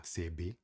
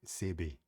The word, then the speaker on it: CV: Tem lugares que se que simplesmente falam CV, no caso você CB, se escreve CV, C de casa e V de vaca, tá bom?